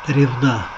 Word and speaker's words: Ревда: читать впереди справа будет город ревда ударение на оку а административный центр городского